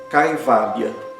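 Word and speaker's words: kaivalya: Então o i é considerado como eh um ditongo e ele sempre tem a pronúncia longa. exemplos de palavras que utilizam a caivalia.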